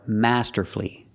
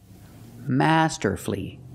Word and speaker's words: masterfully: he played the guitar masterfully masterfully three syllables don't pronounce the U he played the guitar